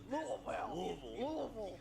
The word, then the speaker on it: Louisville: And he said, Louisville.